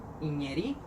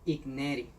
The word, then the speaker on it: Iñeri: Si usted se fijó, yo no pronuncié Igneri. La mayoría de las personas cuando leen esta palabra dicen Igneri. Pero eso es un error. ¿Por qué? Porque esto es una palabra que está escrita en fonética francés.